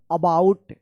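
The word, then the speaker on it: about: इसको पढ़ेंगे अबाउट। देखिए यहां पे शुरू में यहां पे ए है। तो यहां पे क्या है कि इस ए का अ उच्चारण हो रहा है।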